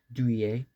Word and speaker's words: Douay: I think it's pronounced Douay, and it's a French kind of.